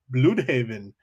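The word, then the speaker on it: Blüdhaven: sent me a voice message saying it's actually pronounced Bloodhaven.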